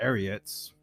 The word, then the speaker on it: Ariats: anyways going back to the ariats I have a theory on there because it rhymes with idiot so idiots were very